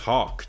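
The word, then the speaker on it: Haack: It's pronounced Hawk, too, by the way. It's not Hack.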